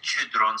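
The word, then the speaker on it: Chödrön: Y también el libro de Pema Chodron, se dice Chodron, se pronuncia, famoso libro, Cuando todo se derrumba.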